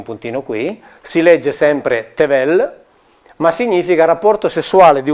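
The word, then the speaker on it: תבל: Se noi mettiamo una E ebraica, sono esempi biblici, si legge tevel e significa terra, universo, mondo. Se mettiamo un'altra E, cioè aggiungiamo un puntino qui, si legge sempre tevel, ma significa rapporto sessuale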